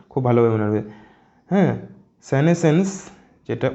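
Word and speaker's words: senescence: শব্দ, এটা কিন্তু খুব ভালোভাবে মনে রাখবে, হ্যাঁ, সেনেসেন্স, যেটা উচ্চারণটা এটা খুব ভালোভাবে করবে, ওকে, সেনেসেন্স মানে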